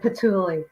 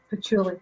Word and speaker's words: patchouli: Because please tell me how you pronounce ling. It's ling. Ilan. Ilan. Oh, okay. I love that smell. And patchouli. Which is patchouli.